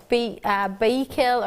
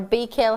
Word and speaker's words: Baikal: So that's spelled B-A-I-K-E-L, Baikal or Baikal, however you wish to pronounce it, which is the region in Siberia.